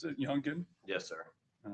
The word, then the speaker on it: Youngin: Now, the rap video "Do It" that was done by Youngin Ace, is that how he pronounces it, Youngin?